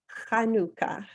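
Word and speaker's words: חנוכה: itself means dedication and I'm going to pronounce it for you in Hebrew it's kanuka might want to try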